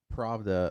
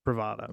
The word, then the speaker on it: Pravda: so it doesn't have an A right there. I know, but my idiocy wants to add an extra syllable to it.